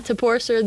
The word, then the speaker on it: Toporcer: My last name, Toporcer the Enforcer. Ooh, That's a good one. That's the Now, best one clever, yet. Yeah. We finally found something to rhyme with my Slovak last name.